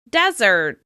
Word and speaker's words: desert: The sandy location is stressed on the first syllable: DEsert, DEsert. The vowel sound of that first syllable is clear: DEsert, DEsert.